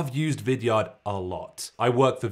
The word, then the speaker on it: Vidyard: Vidyard. Not Vidyard. You're saying it wrong. It's Vidyard. Vidyard.